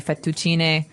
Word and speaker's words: fettuccine: fettuccine Alfredo is a very common American Italian dish, but Right. in Italian it'd be fettuccine, so you might hear it differently.